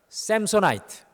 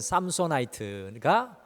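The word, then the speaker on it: Samsonite: 이 튼튼한 가방의 대명사인 샘소나이트, 우리 한국 발음으로 하면 삼소나이트가 바로 이 삼손의 이름에서 유래한 것입니다.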